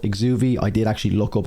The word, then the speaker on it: Exuviae: whatever you want to call it is called exuvi I did actually look up how to pronounce that because I was kind of calling it exuberi but it's exuby apparently and I believe it's like the skin